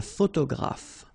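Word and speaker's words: photographe: okay a all right a photograph so here and here pronounce it like f f graph okay same thing here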